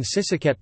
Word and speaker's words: ศรีสะเกษ: The digraph shri, Indic shri is regularly pronounced c, c, as in Sisaket province, Thai.